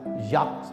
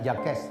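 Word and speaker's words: Jacques: gak boleh salah tuh Zak bacanya bukan jakes Zang jin itu bacanya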